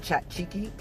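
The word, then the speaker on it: tzatziki: got Greek chicken with is that Zekey sauce but I think the Greeks pronounce it chat cheeky and spanic arezzo which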